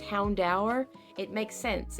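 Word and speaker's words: Houndour: By the way, I know it's pronounced Houndower.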